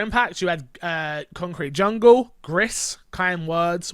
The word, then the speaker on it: Gris: you had concrete jungle grist kind words which is actually pronounced grease but everyone calls it